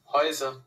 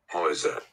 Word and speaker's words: Häuser: দেখেন উচ্চারণ কিভাবে বলে, Häuser. Häuser, Häuser. হয়জার না, এরকম ভাবে হতে পারে।